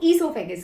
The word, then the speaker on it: oesophagus: Spelling है ओएसोफेगस, तो spelling याद हो जाती है OESOPHAGUS। वैसे हम इसको ईसोफेगस कहते हैं।